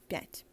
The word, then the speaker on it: пять: Пять. That's where ya is actually pronounced as ya.